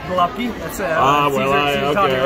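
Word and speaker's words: gołąbki: ahead I love it so we we pronounce it go lucky that's it okay all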